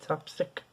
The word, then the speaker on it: tapstick: That's how you say it, tapstick.